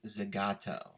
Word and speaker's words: Zagato: dbs gt the ghetto another word that is pronounced seemingly different than it appears it's actually pronounced zagato boyd why though is